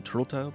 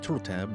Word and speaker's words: Turteltaub: According to one of the pronunciations that I heard was that his name is Jon Turteltaub, so that's what we're going to go with.